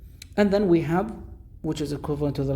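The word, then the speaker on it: ح: we have ha ha if we want to pronounce ha correctly put your hand on your chest and then say ha with an h and a ha you will feel like your your chest is now sinking in but when you say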